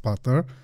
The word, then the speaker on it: Puter: I guess it's pronounced Putter. And I have also camera